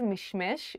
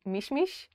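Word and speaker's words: משמש: a fig tree apricot the word is mishmesh but Israelis usually say mishmish Kenneth I bought one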